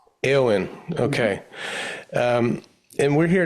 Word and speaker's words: Éowyn: Yes, it's pronounced Aowen. Aowen.